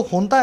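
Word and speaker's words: junta: अब देखो हुंता को इंग्लिश में लिखते हैं जुंता, ये जे है ना, इसको एच प्रोनाउंस करते हैं, ठीक है, इसको एच प्रोनाउंस करते हैं, लेकिन लिखा जाता है जुंता और बोला जाता है हुंता, ठीक है।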